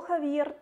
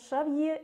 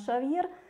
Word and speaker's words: Шавье: Почему-то у нас организаторы упорно называют его то Хавьер, то Ксавье. На мой взгляд, в этом нет необходимости. Шавье, или как допустимый вариант Шавьер, прекрасно ложится на русский язык. Хавьер даже пишется по-другому. Ксавье – это французский вариант.